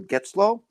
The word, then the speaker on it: Getzlow: I'm looking forward to chatting with Mr Neil Geto I believe I pronounced that correctly yeah you got it right